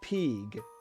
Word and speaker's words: PG: And they pronounce it Peeg.